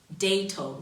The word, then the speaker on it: Dato: Yeah, why don't you say Data? Maybe she paying you first? No, she's not. So anywho, please check out her album. Say the name right. I think nobody got that. Dato. Spell it. D-A-T-O. Dato, right?